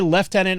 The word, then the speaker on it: lieutenant: when speaking ranks well because the proper pronunciation is Lieutenant they I don't know why they called it left tenant there's no left in it there's no f in it so anyway uh thank